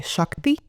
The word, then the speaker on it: Xakti: I go by Shakti. Shakti, okay. Yes, it's spelled Xakti.